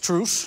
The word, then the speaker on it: truce: The Olympic truth? No, the Olympic Truce. So you pronounce it like Mart Smeets (Dutch sportcommentator), Truce, armistice.